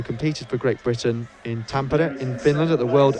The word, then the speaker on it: Tampere: of Edinburgh, who competed for Great Britain in Tampere in Finland at the World Under-20 Championships. And yes, that is how you pronounce it. It's not Tampere.